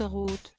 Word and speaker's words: Rauth: Mon associé trouvait que son nom avec le mien impliquait la prononciation R. O-T. Comme dans la cour de récréation, ça ne lui plaisait pas donc j'ai mis O pour que les gens prononcent Roth », expliquait ainsi Christian